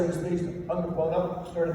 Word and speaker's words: Theismann: We think by just simply changing the pronunciation of your last name from Thiesman to Theismann to rhyme with Heisman, we guarantee you that, Joe.